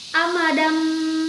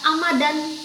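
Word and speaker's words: أمدا بعيدا: Amadam ba'ida, tidak dibaca amadan, tapi amadam, huruf mim ya.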